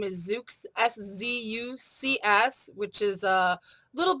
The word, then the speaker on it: Szucs: For those of you who are looking at the slide, you may have noticed my maiden name is Szucs, S-Z-U-C-S, which is a little bit of a tongue twister for those that aren't familiar with the pronunciation.